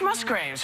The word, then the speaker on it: Musgraves: It's Musgraves, right? Okay, thank you. I always get nervous because, you know, I mispronounce so many things that now I'm George so...